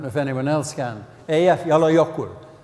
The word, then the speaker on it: Eyjafjallajökull: Eyjafjallajökull is the pronunciation that I prefer.